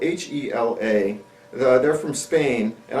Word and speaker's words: Hela: It's spelled H-E-L-A. They're from Spain, and I refuse to pronounce it Hella.